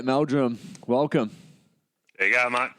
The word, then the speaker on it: Meldrum: Hunters welcome back I'm sitting here with B Meldrum welcome there you go mate good mate I was hoping that I pronounced that right is that how you say